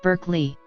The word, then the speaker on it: Berkeley: The philosopher's name is pronounced Barclay, but the city's name, to accommodate American English, is pronounced Berkeley.